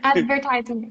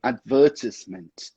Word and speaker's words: advertisement: Okay, advertisement. Good. Mas, só para deixar bem explicadinho, essa é a pronúncia americana da palavra. A pronúncia britânica é advertisement. Advertisement.